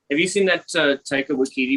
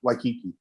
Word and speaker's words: Waititi: Waititi movie, Boy?